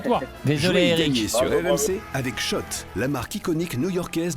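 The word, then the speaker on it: Schott: gagner sur RMC avec Shot la marque iconique new yorkaaiseaise depuis 1913 oui Shot et pas Scott ça fait des années qu'on prononce mal la marque.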